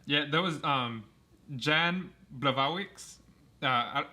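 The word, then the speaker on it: Błachowicz: there was um jan blavarwicks uh it says it's spelled black wicks but yeah it's like yeah yeah something like that since he's polish it's pronounced differently he um knocked out dominic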